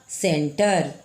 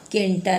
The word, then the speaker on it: center: Word हम लिए हैं, CENTER, इसका उच्चारण क्या होगा, सेंटर, केंटर नहीं, सेंटर, क्योंकि सी के बाद ई आया है। गौर कीजिए ई आया है, इसलिए इसका उच्चारण स में होगा।